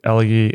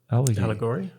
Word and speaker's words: elegy: book about that, Hillbilly Elegy. How do you say that word? Allegory? No, elegy, No, as in, elegy. you give like at a, I think we say elegy in Australia.